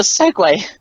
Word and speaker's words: segue: I'm just kinda confused why he chose a segue cuz that's how you say it this is the host